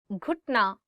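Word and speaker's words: گھٹنا: Ghutna, knee. Ghutna, knee. One more time. Ghutna. So it is gaf and you're adding it with he and it becomes g, g, ghutna.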